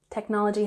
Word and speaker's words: technology: Technology has emphasis on the second syllable, technology. Consequently, it lost its competitive edge.